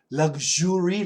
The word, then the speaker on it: luxury: luxury luuux uur y luxury luxury no luxure luxury American pronunciation it's like Lu U lug and then a z h z h r luxury luxury luxury cars really nice